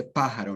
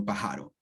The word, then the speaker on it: pájaro: If you see an accent mark on, in this case, this vowel, the third syllable before the last one is gújula, or I guess the second to last syllable, that is telling you, no, I am the stress syllable. So you say pájaro, no pájaro, right?